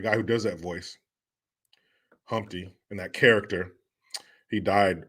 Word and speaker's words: Humpty: me introduce myself oh my name is Humpty pronounced with the empty yo ladies how I